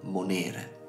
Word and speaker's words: monere: precedente ripetendo il concetto nel caso in cui la penultima sillaba contenga una vocale lunga allora lì posizioneremo l'accento come in monere nel caso in cui